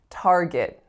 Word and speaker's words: Target: have target target so two syllables and the strongest is of course the first it's a complex or coloured vowel R and tell me what is the second syllable that you're hearing when I say target target it's a schwa right so we don't